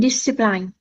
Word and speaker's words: discipline: and discipline. Yes, but we need to pronounce it this way. Discipline. So, it's a soft I each time.